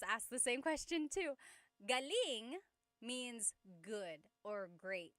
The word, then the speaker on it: galing: Galing means good or great. So if the emphasis is on the second syllable, galing that means good or great or excellent.